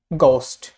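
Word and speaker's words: ghost: Silent H, ওয়ার্ডের শুরুতে ডাব্লিউ এইচ জি এইচ এ, ডাব্লিউ এইচ জি এইচ এ H silent থাকে, যেমন গোস্ট, গোস্ট।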